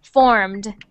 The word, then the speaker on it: formed: So when we add the ed onto that word, we don't say ed, we say just a little sound at the end like the d. So formed.